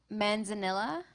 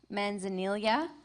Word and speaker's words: manzanilla: Your word has 3 pronunciations: manzanilla, manzanilla, manzanilla.